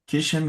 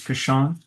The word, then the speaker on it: Kashan: Is it Kishan versus Kashan? Oh yes, it's Kashan.